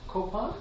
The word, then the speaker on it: Kopan: Venerable Robina Courtin was ordained as a Tibetan Buddhist nun at Kopan, is that how you say it? Yeah. Kopan Monastery in 1978.